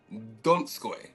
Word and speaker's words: Donskoy: I'm here with the amazing Donskoy. Hey, Pronounce that man.